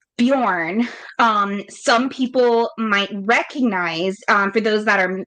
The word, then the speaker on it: Bjorn: Tolken was using was Bejorn B J O R N, which has the same pronunciation um in Old Norse. right now that name Bujorn um some people might